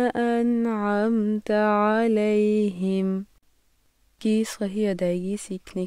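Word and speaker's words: أنعمت: صراط الذین، صراط الذین۔ انعمت کی صحیح اور غلط ادائیگی سنیے۔ انعمت، انعمت، پھر سے سنیے۔ انعمت، انعمت، انعمت، انعمت.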